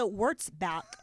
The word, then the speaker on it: Wurtzbach: Some of the highlights, Miss Universe Pia Wurtzbach. Is that how you pronounce it? I think it's Wurtzbach.